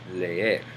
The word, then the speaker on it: leer: Notice that on this word, you pronounce the E twice. Leer, to read.